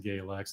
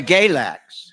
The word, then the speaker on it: Galax: And he said, "It's freeze in the winter and fries in the summer."